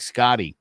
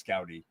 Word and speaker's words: Scouty: dove turtle scouty um are you sure it was scouty because that looks like Scotty no it's scouty my mom has a